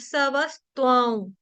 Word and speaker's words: सवस्त्वां: ठीक है, वा के ऊपर जो अनुस्वार है, वा के ऊपर जो अनुस्वार यानी कि बिंदी है, उसका उच्चारण करेंगे आधे व ऊपर चंद्र बिंदु, वाऊ से, वाऊ। ठीक है, ध्रुता सवस्त्वां, आधे व के समान करना है।